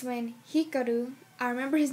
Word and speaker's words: Hikaru: It's when Hikaru, I remember his name because I like Kaoru better.